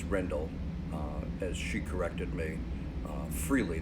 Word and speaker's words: Rendell: A lot of Americans pronounce it Rendell, but it's Rendell, as she corrected me freely the very first time we met.